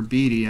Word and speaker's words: Beede: Tyler Beede insert for the Giants. Or Beedy, I think is how it's pronounced, actually. Refractors of Michael Feliz for the Astros.